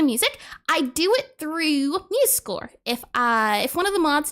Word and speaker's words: MuseScore: That is pronounced MuseScore. Is that a C? SCORE. There you go.